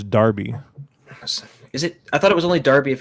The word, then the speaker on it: Derby: to you know some derby it's a freaking absolute derby you know yeah um i i i believe you're mispronouncing it i'm pretty sure it's darby is it i thought